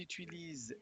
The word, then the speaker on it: utilisent: Ils utilisent les lunettes rouges. Donc, ils utilisent, hemos estudiado los verbos. Troisième personne, no se pronuncia ENT.